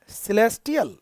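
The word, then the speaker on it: celestial: सिलेस्टियल, इसका pronunciation ध्यान रखना।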